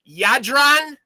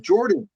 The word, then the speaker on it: Jadran: up your name man yadron yadron yes sir yeah that's actually pronounced yeah it's good uh yeah the j is a y sound yeah that's true so